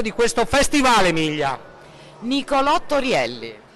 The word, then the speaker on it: Torielli: un panorama e la sfida è riuscire a pronunciare il mio cognome in maniera corretta e miglia quella mio cognome torielli brava brava emilia allora è meglio un festival